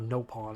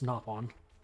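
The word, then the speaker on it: Nopon: naon coins that is how you're supposed to pronounce it it's not noon it's napon but I don't care pronounce it however you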